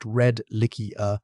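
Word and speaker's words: Redlichia: from the deserts of Utah, and on Redlickia, pronounced Redlickia, from the Emu Bay Shale of South Australia, rocks more than 500 million years old.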